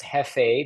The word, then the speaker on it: jefe: most active Jore AF that jef pronounced he because it's a Spanish word for leader he AF and there's